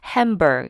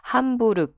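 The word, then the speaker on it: Hamburg: 라고 지금 수 적혀있는 햄 벌 혹은 함부르크 그 독이 식으로 발음하면 그렇습니다 베를린 에 이어서 두번째로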